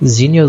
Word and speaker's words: Xenial: O nome dele vai ser Xenial ou Zenial, agora não sei, né? Deve ser Zenial Zeros, já que o X a versão 1604, né?